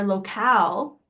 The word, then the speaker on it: locale: But when you use it with an E here, locale is how it's pronounced, then that is a noun.